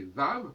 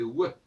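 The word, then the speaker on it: ו: Dans ce cas-là, le vav ne devrait pas se prononcer vav, mais ouais.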